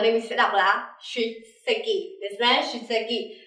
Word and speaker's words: 出席: Có mặt ở đây mình sẽ đọc là 出席.